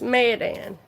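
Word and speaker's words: Mayodan: And it's Madan and it's spelled.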